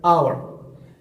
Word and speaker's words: hour: First, this first sound is silent. We don't pronounce it. You don't hear something else. You hear hour.